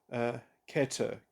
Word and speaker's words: Keter: It's somewhat relatable to, in the Kabbalah, Ein Sof, Ein Sof Or, which exists prior to Keter, Keter, excuse me, Keter, that's how it's pronounced.